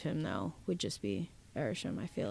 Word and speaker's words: Arishem: Yeah, I feel like either he can stand the sun, or somebody else's theory was that wait, how do you say his name? Arishem. I always say Arsham.